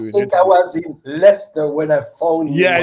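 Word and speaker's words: Leicester: And Leister is actually pronounced Lester.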